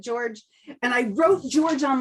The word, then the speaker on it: Jorge: Yes, I thought he was Jorge. He had said before we started recording, he said, I know it's spelled Jorge, but I pronounce it George.